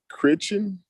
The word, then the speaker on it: Crichton: His name is Michael Critchen. Okay. It's spelled Crichton. Okay.